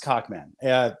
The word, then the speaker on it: Cockman: So it's pronounced Cockman. Think of a rooster, if we have to, be good on the airwaves.